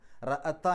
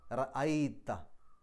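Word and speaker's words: رأيت: റഅത്ത എന്നല്ല പറയാം, റഅ അൻത എന്നല്ല പറയാം, റഅയ്ത.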